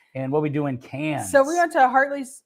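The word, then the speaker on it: Cairns: it it looks like K KS but it's cans is the way they pronounce it and what we do in cans so we went to heartley uh we did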